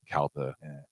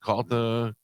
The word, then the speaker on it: Calta: dad's the one that when people say CTA and he goes kalta I couldn't care it CTA cooligans call me whatever